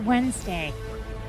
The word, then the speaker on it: Wednesday: and the word is Wednesday the D the D is silent one for you all